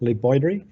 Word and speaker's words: LeBoydre: my name is Lee Boyd REE the name is so it's obviously French and it sounds like